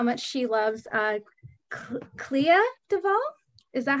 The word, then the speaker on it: Clea DuVall: the end about how much she loves uh clea duvall is that how you say her name yeah